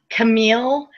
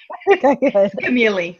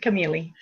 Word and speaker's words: Camilli: it and they think Camille and um but it's Italian so it's got the I not the E so it's you you